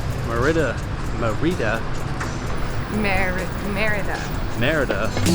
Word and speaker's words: Mérida: become the monitor Mara Mara does how it's pronounced meridah meridah meridah meridah meridah